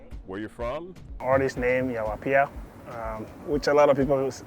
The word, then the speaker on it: Yaw Appiah: who you are where you're from artist named yawapia which a lot of people call me yawa and apaya um but the right pronunciation is you're up here um born and raised in Ghana West Africa